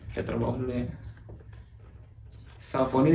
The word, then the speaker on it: Saucony: Saucony dibacanya Saucony.